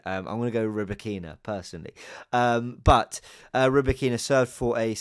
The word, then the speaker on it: Rybakina: i want to get it right elena uh roberkina there was a lot of debate on um